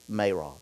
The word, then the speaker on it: Marah: Some say Marah, but the correct pronunciation is Marah.